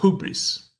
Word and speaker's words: hubris: gagarin and ed harris pronouncing the term the right way i mean the way i'm pronouncing myself uh hubris that's another clever question